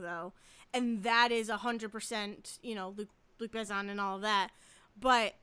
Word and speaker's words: Luc Besson: But Luc Besson, right? Is that how you pronounce it?